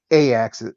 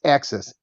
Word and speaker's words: AXYZ: It's it's pronounced a Axis. It's it's pronounced Axis. AXYZ. That's how it's pronounced. Axis.